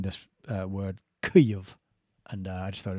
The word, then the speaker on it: Kyiv: I heard Alex Thompson once pronouncing this word Kyiv, and I just thought it was pretty good.